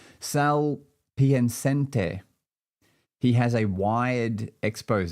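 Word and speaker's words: Sal Piacente: Sal Piancente. He has a wired expose. That's pretty cool. Sal, maybe I'll spell it for you.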